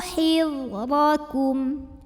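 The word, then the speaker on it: حِذْرَكُمْ: Khudhu hidrakum, huruf dha dibunyikan secara tafkhim karena berbaris di atas, maka dibacanya tebal.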